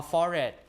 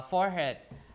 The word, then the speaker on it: forehead: So often has become one of the standard ways to say this word or forehead. Uh forehead. So you don't usually pronounce the H because H is a light sound, right?